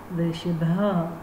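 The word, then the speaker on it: वृषभः: साथ में आप देखिए सर्प के चिन्ह के लिए ह के उच्चारण होना चाहिए, वृषभा।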